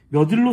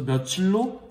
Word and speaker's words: 며칠: 만약 며칠이 몇과 일이 결합한 형태라면 일이 명사이므로 당연히 몇일로 소리나야 합니다. 하지만 실제 발음이 며칠이라는 사실을 볼 때 며칠은 관형사 몇에 명사 일이 여기 주의할 중요합니다.